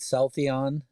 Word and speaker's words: Celltheon: company's name right so I think I said South ion uh is that correct exactly that's right all right and um